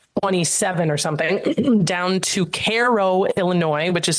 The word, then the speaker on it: Cairo: down to like 27 or something down to Caro Illinois which is spelled like Cairo but they pronounce it Koh and then when you get to Koo there's